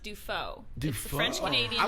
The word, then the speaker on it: Dufault: Uh and so it's default. Actually, it's pronounced defo.